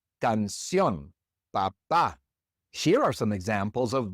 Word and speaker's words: papá: But in each of these words, we stress the last syllable, and so we have to write an accent mark above that last vowel. Canción, papá.